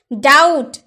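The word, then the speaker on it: doubt: करते होंगे ना, लेकिन अगर आपको ये नहीं पता होगा कि बी साइलेंट होता है तो आप कैसे डाउट बोल रहे हैं, आपको तो डाउट बोलना चाहिए ना। तो आपको ये जानकारी बहुत ही आवश्यक है कि डी के पहले अगर बी आए तो बी चुप रहता है, साइलेंट रहता है, तो आपको बोलना होगा डाउट, डाउट यानी कि संदेह।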